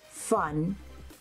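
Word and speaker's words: Phun: And this shade is called Fun Intended. Like pun, it's spelled P-H-U-N intended.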